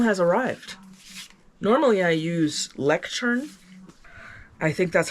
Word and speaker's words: Leuchtturm: Leuchtturm. Okay, thank you very much. In the arts and crafts. The brand is pronounced Leuchtturm.